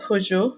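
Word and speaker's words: Hozho: That report is titled Personal Journey Towards Hozo. Am I pronouncing that correctly? I looked it up right before this because it's not in my language, but I believe it's Hojo. Hojo.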